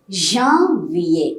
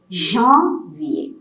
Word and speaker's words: janvier: Now, January is janvier. You get a nasal pronunciation here. It is not a janvier. It's not a janvier. It is janvier.